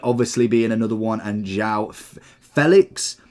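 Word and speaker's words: João Félix: that would be incredible Vinnie obviously being another one and Zhao Felix is how I believe he said he wants his name pronouncing or at least that is how his name is pronounced rufina is another great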